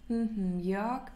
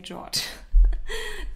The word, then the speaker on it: Jörg: If it's too difficult to pronounce, you can say George.